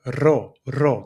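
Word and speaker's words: ρο: In Greek, we have to pull the tongue forward. So, you have to say r row.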